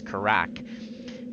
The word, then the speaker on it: Karak: So, Karak and I always say his name wrong, it's Karak. Karak and I are headed